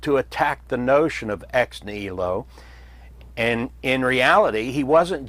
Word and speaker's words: ex nihilo: And that term was ex nihilo. It is pronounced in various ways as ex nihilo, ex nihilo with a silent h.